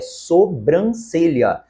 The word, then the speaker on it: sobrancelha: reivindicar a segunda sobrancelha Você viu que o correto é sobrancelha não existe esta nasalidade aqui e a terceira